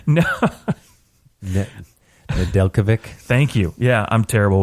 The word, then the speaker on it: Nedeljkovic: They've got what's-his-face in the minors, Alex Needlevik, or, man. Alex Needledick? I think that's what you meant to say. No. Nedeljkovic.